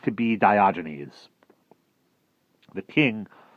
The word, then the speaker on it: Diogenes: walked up to the barrel and said to Diogenes which is how you should be printed which is how I should have pronounced it before I like you let me